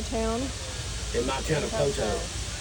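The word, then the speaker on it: Poteau: In my town of Poto. I've been saying we say Poto. It's spelled P-O-T-E-A-U. It's French.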